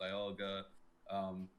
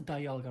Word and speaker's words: Dialga: we wanted to make Dialga work as well. I think you guys say I think the correct pronunciation is Dialga, right? Yes. Okay, I keep saying Dialga because like that's the German.